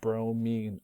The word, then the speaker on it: bromine: So even though this is spelled I-N-E, we still pronounce it fluorine, chlorine, bromine, iodine. This way it's different from fluoride, chloride, bromide, iodide.